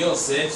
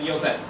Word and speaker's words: Yosef: Fala-se sobre a história de Yosef, sobre a história de Moshe.